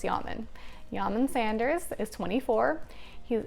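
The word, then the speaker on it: Yamen: I'm gonna pronounce it Yaman because I know it's spelled like ramen with a Y, and that's how I would pronounce ramen, so it's Yaman.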